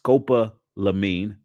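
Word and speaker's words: scopolamine: most likely by the date, a cocktail of sedictive drugs, including the potentially deadly Scopalene or is pronounced Scopa Lamine, that is known to make victims blackout, which has been proven fatal.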